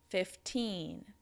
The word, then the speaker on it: fifteen: The stress is on the second syllable. So that's the same for all of the teens. You just need to make sure are stressing the second syllable, making it a little bit longer, a little bit louder, and a little bit higher in pitch than the first syllable.